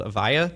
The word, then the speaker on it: Avaya: So one of those companies that you had a real impact on was a company called Avaya. Did I pronounce that right?